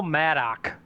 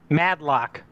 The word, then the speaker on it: Madlock: I have no idea Bill madok madlock sorry I'm sorry Bill madlock I'm sorry I butchered your name I'm sorry Bill mad sick